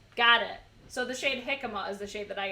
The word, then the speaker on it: jicama: was chutney I think it was so beautiful jicama that's how you pronounce that oh yeah you know now when